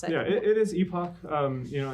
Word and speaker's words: Epoch: it yeah it is Epoch um you know in America our pronunciation we were taught epic pretty much everywhere else in the world is pronounced Epoch um and that's that's